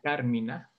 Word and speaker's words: Carmina: La palabra la hemos utilizado varias veces, la hemos visto escrita, pero es importante mencionar esto, la pronunciamos en español como una esdrújula cármina.